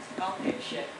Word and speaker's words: Gao Peixian: my Chinese name is Gao Peixian. And the pronunciation is close to the English word, patient.